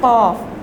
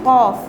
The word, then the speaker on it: Qaf: The 5th Makhraj is the base of the tongue and the palate right above it. One phoneme or letter is pronounced from this place. It is Qaf. Okay, tongue and the palate right above it. It is Qaf. Example Aq. Example is Aq.